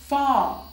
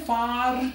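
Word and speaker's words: far: small toll fall now in British English at द एंड ऑफ any vowel at द एंड ऑफ any word आर is normally silent आर को हम pronounce नहीं करते सो हमारे पास word है फा अब आप इसे फार नहीं कहेंगे आप बोलेंगे फा खा वर ए आर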